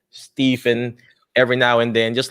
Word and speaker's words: Stephen: It's Stephen, just like it would be as if Steven, Stephen is the same. So it's Stephen.